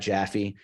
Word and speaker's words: Japhe: uh if you just Google my name which is spelled j-a-p-h-e and that's Jaffe Eula was getting me